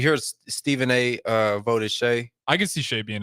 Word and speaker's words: Shai: with the those guys is it Shay or Shai I always say shay gild just Alexander I always Shay I think it's Shay yeah okay some people say Shai I think it's pronounced Shay gild Alexander okay uh let's see